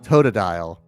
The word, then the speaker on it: Totodile: It's pronounced Totodile. And you know that even because when he said in the game, he goes toe.